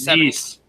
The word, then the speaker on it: Nice: I apologize, but CNN saying Nice. Not Nice. Nice. Sorry. Okay. Well, thank you for the correction.